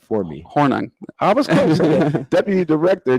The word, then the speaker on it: Hornung: Hornung.